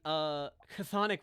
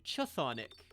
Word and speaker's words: Chthonic: But then like there's the Chthonic Warriors, which actually has the TH sound. But that word starts with a CH. Yep. Why isn't it Chthonic?